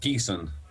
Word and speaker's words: Ghessen: Am I pronouncing your last name right? Pretty good, Ghessen.